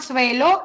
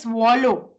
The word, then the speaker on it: swallow: as a and it it is pronounced as o it is not swellow it is swallow is AEL to swallow